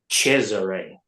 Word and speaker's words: Cesare: How do you pronounce his first name? Cesare.